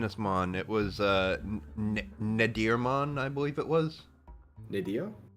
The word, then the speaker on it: Nadirmon: mon it was uh nadirmon I believe it was nidio yeah n a d i r mon like natter natter and okay I was